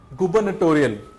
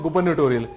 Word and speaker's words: gubernatorial: Gupanatorial just sorry for the pronunciation gubernatorial it's from the images